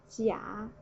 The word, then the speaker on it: 甲: The left part is a character pronounced as 甲, 甲. Sorry, it's a typo. It should be third tone.